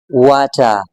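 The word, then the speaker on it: water: इसको हम बोलेंगे, प्रोनाउंस करेंगे वाचा, वाचा, वाचा।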